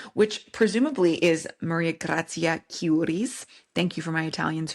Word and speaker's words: Chiuri: presumably is Maria Gracia Curis. Thank you for my Italians who helped me with that pronunciation. Still work in progress, but apparently it's a hard K. Cury.